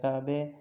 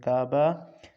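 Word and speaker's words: کعبه: اس کے بعد لفظ کعبے، کعبے وہی کعبہ، فقط تلفظ کا فرق ہے، باقی کوئی فرق نہیں، ہم کہتے ہیں کعبہ، فارسی والے کہتے ہیں کعبے۔ اس کے بعد لفظ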